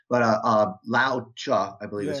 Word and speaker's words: Lao Tzu: I have to look it up every time and see how it's pronounced. But Lao Tzu, I believe is how it's pronounced.